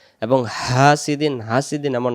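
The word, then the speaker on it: حسد: হা scene জবর সা হাসা দাল জবর দা হাসাদা দম ছেড়ে দেওয়ার জায়গা আছে জবর বাদ এটা সাকিন হবে উচ্চারণ হবে হাসাদ হাসাদ হাসাদ ওয়ামিন শাররে প্রথম থেকে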